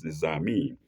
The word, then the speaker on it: Nizami: It's not Nizami, it's Nizami. Nizami is spelled capital Niza, lengthened A, and then Mi, lengthened and I.